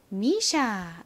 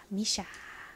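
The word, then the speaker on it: MISSHA: 그리고 ssh n 뭐 S 두 번 있지만 SH 똑같이 발음해 주시면 됩니다 쉬 소리가 나죠 그래서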